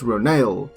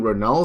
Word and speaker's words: Ronal: navi warrior renault pronounced ronale in quote so i just want to say that i've been pronouncing it wrong because they pronounce it they have a pronunciation ro nail so i've been saying ronald so it's ronald so